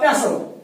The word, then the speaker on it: pestle: He breaks a pestle, PESTLE, इसको बोलते हैं pestle। Why we pronounce it pestle? हम इसको pestle नहीं बोलते हैं, इसको बोलते हैं pestle। Why we pronounce it pestle? Because T remains silent here.